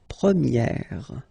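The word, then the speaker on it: première: okay prier and then for the feminine form you will get Premier okay so it's open this a sound Premier prier and then second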